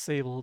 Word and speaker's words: Sable: And normally I think it'd be pronounced Sable, but they pronounce it Sable.